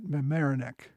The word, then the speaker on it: Mamaroneck: Their next encounter with the British was, if I can pronounce it right, at Mamaroneck.